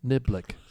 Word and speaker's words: Niblick: I always knew how to say it because it was kind of like Dicklick, Niblick.